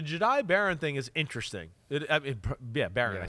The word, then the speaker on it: Barron: Barron.